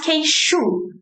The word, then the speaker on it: queixo: So you pronounce queixo. Queixo. The SH sound, like she. The SH sound, shu. Shu. Okay? Like sugar. Yeah, like sugar. The same sounds from sugar.